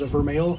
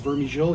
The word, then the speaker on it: Vermeil: There's Vermeil, so that's his. That's the way you pronounce his name. Some people think it's Vermijil.